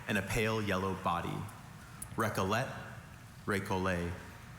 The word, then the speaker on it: recollet: Maybe the alternative pronunciation of recolle helped him realize that was just E and not ET t at the end of that one.